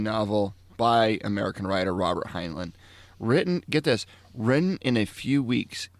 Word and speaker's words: Heinlein: Heinlein. That sounds very German. But anyway, so I got to read this really quick. So it's a military science fiction novel by American writer Robert Heinlein.